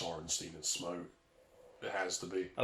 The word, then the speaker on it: Smough: Oh, have you heard people say Smough? It really upsets me.